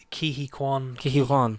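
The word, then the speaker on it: Ke Quan: Ki Kwan.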